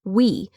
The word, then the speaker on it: Whee: Social media headline number two, TikTok launches a new image sharing app called We, and it's spelled WHEE.